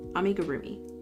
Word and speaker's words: amigurumi: I say it I say it the way I pronounce it in Japanese. I need to not do that cuz then it doesn't sound right in English. I'm a gurumi. Ami gurumi.